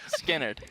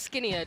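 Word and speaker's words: Skynyrd: It's Skinnerd. Yeah. Skinnerd. Leonard Skinnerd, yeah. So it's not Skinny Ud.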